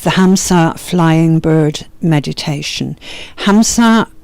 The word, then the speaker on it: Hamsa: Hamsa, I'm pronouncing that in English, is actually a version of the mantra. I'll do it the way we do it with the breath. Hung. So ham, so hung.